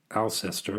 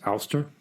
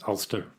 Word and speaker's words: Alcester: It's spelled Alcestor. The temptation is to pronounce it Alcester, which I'm absolutely sure is wrong. If I look at how Worcestershire is pronounced, not Worcestershire, it is Worcestershire. So maybe it's Ulster, as if it were Ulstershire.